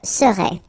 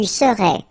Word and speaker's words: serais: Remember, so A-I-S, but then you don't pronounce the final S. Je serais. Same rule here, no pronunciation of the final S. Tu serais.